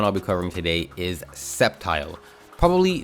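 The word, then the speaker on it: Sceptile: but but crazily enough there are people out there who have referred to this thing and may possibly still refer to this thing as a skepti the great skeptical lizard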